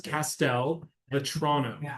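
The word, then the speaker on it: Castelvetrano: Pastel, almost like castle. Okay. It's Castel Vetrano.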